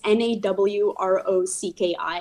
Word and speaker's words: Nawrocki: It's spelled kind of weird. It's Nawrocki. It's a Polish family name.